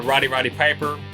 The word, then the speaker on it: Roddy Piper: influenced by the scene and they live or rowdy roddy piper Rowdy Roddy Piper's how you say it where